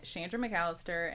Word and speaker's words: Chandra McAllister: I am Shandra Mallister and I'm the community sustainability coordinator for the city.